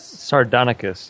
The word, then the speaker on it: Sardonicus: Sardonicus, yes. Sardonicus. What the fuck is Mr. Sardonicus?